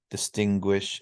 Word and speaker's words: distinguish: So suede and suave, and then lots of them with G, like penguin, distinguish, and linguist.